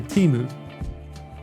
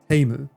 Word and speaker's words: Temu: So everyone's saying that 75% of you say Temu, but it should be pronounced closer to the China way of saying it, which is Temu. Temu. Like a theme, right?